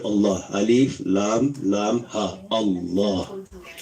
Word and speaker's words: Allah: When we say Allah, we should say with a full mouth and feel the greatness of Allah as we say His name. Full mouth, not flat mouth, full mouth. Allah. Hold the lam and feel the power of Allah as we release it and say Allah. This is how we should say Allah.